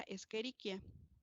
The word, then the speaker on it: Escherichia: ni éstas es mayúscula se escribe eric ya y se pronuncia escherichia otra forma de escribir